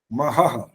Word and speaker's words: महः: अगारांत है तो अ की आवाज के साथ ह जुड़ता है। महः, ओम जनः, ओम तपः,